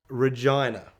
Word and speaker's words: Regina: a significant town of Regina. Yes, Regina. We thought it was Regina. We all said Regina the whole way. That's how it's spelt. Anyway, we got there. The locals called it that.